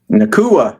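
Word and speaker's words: Nacua: Nua. There you go. Paka Nua. That's how you pronounce it.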